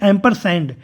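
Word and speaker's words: ampersand: इस्तेमाल करते हैं इसको वास्तविक तौर पर क्या प्रोनाउंस किया जाता है तो हम कह सकते हैं एंपर सें ठीक है तो एंपर सड आपका बी विकल्प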